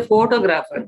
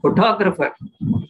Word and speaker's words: photographer: say photograph we call but when we say photographer we don't say photographer we say photographer there the the stress is on the second syllabus when we say photographically